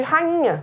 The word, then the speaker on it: rainha: É o caso também, por exemplo, de rainha. Eu vou escrever o NH, mas eu pronuncio como? Rainha. Nha. É um som só, representado por duas letras.